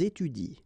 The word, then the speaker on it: étudient: at the plural form, so n t, well, you don't pronounce it, so you will get ils étudient.